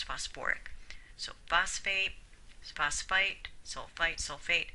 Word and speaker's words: phosphoric: And phosphate doesn't form phosphic, it forms phosphoric.